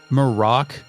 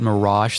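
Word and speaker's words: Marach: near corpse of Malik morac marak Malik last time I said it Mirage the entire time the fake net later told us that was the incorrect way to pronounce this it is morac Obama Mar that's right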